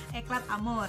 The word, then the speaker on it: Eclat Amour: Kita sepakat dulu bacanya adalah Eclat Amour ya.